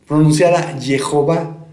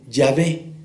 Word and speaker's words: Yahvé: Basándose en una tradición no lejana, los masoretas insertaron las vocales de Adonai en el tetragrama sagrado para que se pronunciara Jehová, de ahí la traducción Jehová. Sin embargo, es muy probable que se pronuncie simplemente Yahvé, con énfasis fonético en las consonantes y no en las vocales.